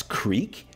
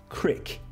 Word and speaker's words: creek: hear it pronounced as creek or you might hear some people which commonly in the north i've found they say it like this you might hear it as crick so where are you